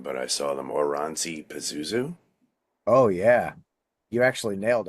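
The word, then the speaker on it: Oranssi Pazuzu: I want to say, now I'm going to get the name wrong, but I saw them Oranzi Pazuzu.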